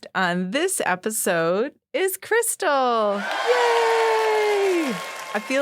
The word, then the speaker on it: Krystal: of course, and I'm like, Krystal, okay, it's pronounced Krystal.